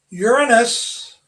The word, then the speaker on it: Uranus: Uranus, which is the correct pronunciation.